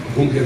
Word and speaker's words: bunker: Mania aqui nossa, achar que bunker é inglês, né? Bunker é alemão, a gente pronuncia bunker mesmo.